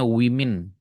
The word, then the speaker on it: women: Woman, ini bacanya women.